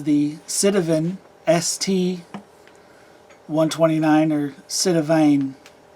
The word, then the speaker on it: Sitivien: citizen st 129 or cinevine it's ien so should be said a vine everyone pronounces that citavin i will too it is a flipper